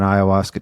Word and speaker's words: ayahuasca: I know my parents have a hard time pronouncing it. It's ayahuasca.